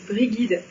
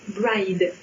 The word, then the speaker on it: Brigid: Non, généralement, moi j'entends prononcer Morrigan et Brigide. En fait, c'est une erreur. On devrait prononcer Morihan. On devrait même prononcer Morihan en faisant un H de gorge. Et celui-ci, c'est sans doute le plus surprenant, ça se prononce bride.